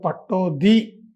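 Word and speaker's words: Pataudi: ഈ മൻസൂർ അലി ഖാൻ പട്ടോടിയെ ഞാൻ ഭോപ്പാലിൽ അങ്ങേരുടെ കൊട്ടാരത്തിൽ പോയി ഒരിക്കൽ കണ്ടു അങ്ങനെ ഒരു കോൺഗ്രസ് സ്ഥാനാർത്ഥി ആയിരുന്ന കാലത്താണ് സംസാരിച്ചു കൊണ്ടിരുന്നപ്പോൾ അദ്ദേഹമാണ് എന്നോട് പറഞ്ഞത് പട്ടോദി എന്നാണ് ഞാൻ തിരിച്ച് ഞങ്ങളുടെ പത്രത്തിലൊക്കെ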